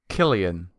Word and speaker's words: Cillian: It is Killian. That's what I thought. Cillian Murphy?